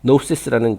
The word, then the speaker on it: gnosis: 맨 뒤에 보면은 G는 묵음이고 gnosis라는 이제 단어가 또 있죠.